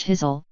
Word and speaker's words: Kyzyl: In 2012, an Enduring Voices expedition documented the Kyzyl, pronounced Kyzyl, language from the Republic of Khakassia.